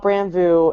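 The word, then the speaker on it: Brand Vous: it does so yeah so it's called brand vue and it's spelled the french way v-o-u-s um and it's really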